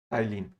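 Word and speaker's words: ptyalin: जिसको अपन टाइलिन enzyme, टाइलिन P silent रहता है, टाइलिन एंजाइम के नाम से जानते हैं।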